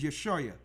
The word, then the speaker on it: Yeshua: Yes, not I. That's Isaiah with an I sound. That's a different letter.